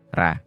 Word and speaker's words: Ra: Ra, sering diucapkan sebagai Ra, tetapi lebih tepat sebagai Re, adalah dewa matahari Mesir kuno.